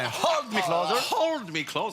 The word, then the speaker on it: Hold: Oui, alors le H est expiré. Hold me closer.